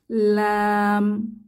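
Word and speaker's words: لام: এই হরফটি ল্যাম্পের মত দেখতে এর নাম হচ্ছে লাম লাম উচ্চারণের জন্য জিহবার আগা উপরের তালুকে স্পর্শ করে এবং দুই ঠোঁট এক হয়ে যাবে লাম লাম আমরা বলতে পারি জিহবার আগা উপরের তালুর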